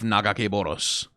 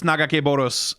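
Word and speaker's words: Nagakabouros: Well, the pronunciation of that name, by the way, everyone has their own one. I have my own one. I believe it's Nagakeboros, as it was pronounced in, like, the Ruined King game, at least.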